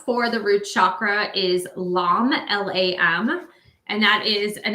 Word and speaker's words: LAM: As I mentioned, the mantra sound is LAM, L-A-M. And you would say it like this. You would just inhale and exhale, LAM, while focusing on your root chakra.